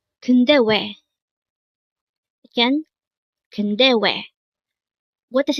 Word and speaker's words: 근데왜: This is composed of 3 syllables. The first one is kun, second syllable is de, and third syllable is we.